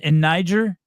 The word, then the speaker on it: Niger: Hey, in Nigeria, it's in Niger.